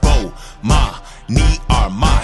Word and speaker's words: Bomani Armah: I'ma say my name so you can pronounce it. Bomani Armah.